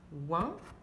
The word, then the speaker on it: loin: O-I-N, donc ça devient loin, comme loin.